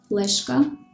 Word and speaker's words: флешка: in the words модель, флешка, степлер. In these words, the consonants D, L, T are pronounced hard, even though they are followed by a soft vowel.